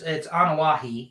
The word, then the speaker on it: Anoa'i: And I said that name wrong. It's Anoa'i, excuse me.